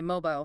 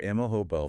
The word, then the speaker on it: mobile: Or, mobile. My mobile phone. Rhymes with, I don't know, global. And our mobile phone. Rhyming more with smile.